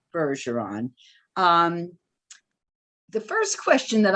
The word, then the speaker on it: Bergeron: am pronouncing it correctly i thought might be bergeron but no it's a soft g and it is indeed harrison bergeron um the first question